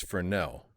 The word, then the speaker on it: Fresnel: And chroma, I swear, it's Fresnel. We pronounce it correctly here in this studio audience. Damn right, I'm the Tom Clancy. on, on that Tom Clancy show, we know how to say French words.